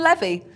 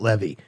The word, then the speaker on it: Levy: movie she would know that it's pronounced Levy not Levy I think that's right